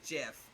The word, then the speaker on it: GIF: This is the same argument as GIF versus GIF. Yep. It is GIF! It's spelled with a G!